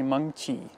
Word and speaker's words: Mengqi: how you pronounce me it's actually monkey and it has taunt to it monkey monkey well